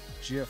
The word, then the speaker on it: GIF: animated gifs gif gif the creator of it said it's jif so i guess i gotta go with that even though it's spelt